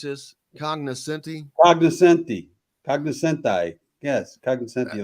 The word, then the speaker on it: cognoscenti: So you were part of the how do you pronounce this? Cognoscenti? Cognoscenti.